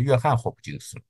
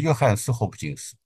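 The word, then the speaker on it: Johns Hopkins: 识到了，我原来都读错了，原来都读成约翰霍普金斯，其实是约翰斯霍普金斯。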